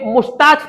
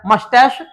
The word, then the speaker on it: mustache: had branch like mustaches, mustache ये मुस्ताच पढ़ते हैं ज्यादातर लोग, ये इसका प्रोनाउंसिएशन होता है मस्टैश और मस्टैशिश।